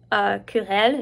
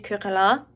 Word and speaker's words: querelle: Et aussi, j'ai fait une petite erreur de prononciation aujourd'hui. Au lieu de dire querelle, j'ai dit querellant.